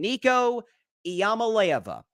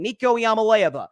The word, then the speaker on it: Iamaleava: I've heard it pronounced different ways. I'm going to do my best. Nico, it's his first name, Nico Iamaleava.